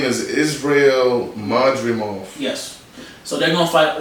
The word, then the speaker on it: Madrimov: I can't probably pronounce it anyway. Oh, next fight, Israel. Yeah, that's him. Israel. What's his last name? Madrimov. Yep, Madrimov.